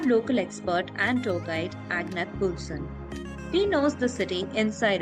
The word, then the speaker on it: Agnethe: My name is, the Danish version of it is Agnethe. That might confuse you with the way it's spelled, and don't worry about it.